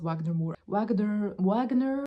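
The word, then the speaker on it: Wagner Moura: I believe Wagner, I think his name is pronounced Wagner Moore.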